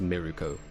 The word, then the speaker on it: Mirko: The rabbit hero Mirako or Mirko, which is pronounced Miruko.